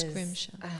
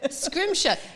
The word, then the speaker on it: Schrimsher: how you sayri beautiful scrimshire it's yeah well tell me where that came from it is scrimshire gosh it's Scottish scrimshire now you tell me